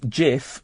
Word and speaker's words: Cif: F it's actually pronounced JF the C is pronounced as a j okay but but the